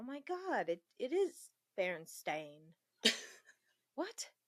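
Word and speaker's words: Berenstain: Oh my god, it it is Baron Stain. What? It is Baron Stain, which I'm still upset about and I will always be. Then why didn't we pronounce it Bear Stain?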